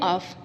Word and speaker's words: off: की तरफ बढ़ते हैं इस ऑफ को हम यानी हम एफ को प्रोनाउंस करेंगे तो तो ये कहलाएगा ऑफ वो है अव ये है ऑफ इसका मतलब होता है